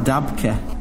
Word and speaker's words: Dabke: I think it's pronounced Dabke.